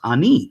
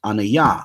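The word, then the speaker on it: אני: Those who know Hebrew, standard Hebrew, would say it's pronounced ani, right? And they would say, no, it's pronounced anaya, or the Torah Knights cats would say ane or something like that.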